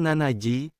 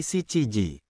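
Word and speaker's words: 七時: bukan nanaji, tetapi siiji.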